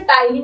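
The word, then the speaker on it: ptyalin: ठीक है, एक तो है पटाइलिन या फिर टाइलिन एमाइलेज, पी साइलेंट होता है तो हम इसे टाइलिन एमाइलेज कह देते हैं, और दूसरा होता है लाइसोसोम।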